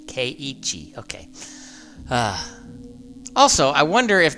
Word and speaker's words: Keiichi: Kaiichi? Okay. I've just been saying Kichi, like, K-E-I-I, Ki, and then Chi, Keiichi.